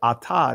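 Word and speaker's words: אתה: And as you see here, this Aleph is silent. So I am not pronouncing this letter here, right? I'm pronouncing the Patak. I'm pronouncing the Kamets. So Atha, instead of saying Tha, which this is supposed to make a THA sound, now I'm sounding like the Israelis, Atha.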